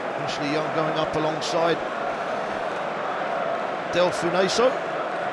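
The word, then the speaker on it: Delfouneso: Ashley Young going up alongside Del Funeso. Just checking the pronunciation, Ben. Apparently the E's silent.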